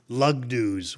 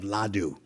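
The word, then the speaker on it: laddu: what they would call lugus which was a mispronunciation of ladu but we would say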